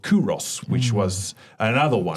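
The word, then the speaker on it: Qoros: There was another brand called Kuros, which was another one. Sounds like Oros. Yeah, it sounds like Oros, but it's spelled Q.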